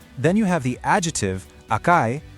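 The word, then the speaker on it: 赤い: Then you have the adjective, akai, pronounced akai, which you use to describe something as being red.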